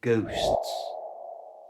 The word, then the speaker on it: ghost: spooky of all are ghosts and to say this correctly first don't pronounce the h it's silencing ghost the